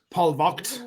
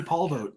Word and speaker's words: Polvogt: I found out that my name is actually supposed to be pronounced Paul vacht is a traditional Prussian German pronunciation of it um it's too late to change man just call me Paul vote it works fine yeah yeah I get it